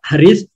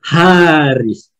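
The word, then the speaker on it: حارس: Le truc qui après le là, il y a le halon pour dire que c'est pas Haris, c'est Haris.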